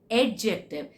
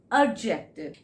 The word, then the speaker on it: adjective: It is not adjective, it is adjective.